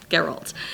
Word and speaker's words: Geralt: I think it's just Gerald, but like with a G. Oh, okay. Geralt.